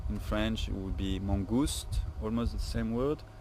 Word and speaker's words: mangouste: Mongoose in French it would be mangouste, almost the same word.